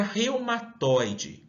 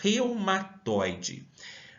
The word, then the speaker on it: reumatoide: separo quantas sílabas tem Será que eu menciono reumatoide ou eu consigo falar em um único fôlego eu matoy a última forma que mencionei é a correta vamos realizar a oração